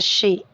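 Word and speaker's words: Xi: The name ji in Chinese is pronounced as शी.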